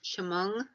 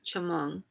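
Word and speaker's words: Chemung: indians had a word they called it was chamong and the chimong when you translate it means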